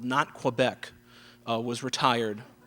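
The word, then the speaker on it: Nantes: a small town called not quebec uh was retired not quebec n a it's quebec it's french they don't pronounce every letter uh n-a-n-t-e-s you'd be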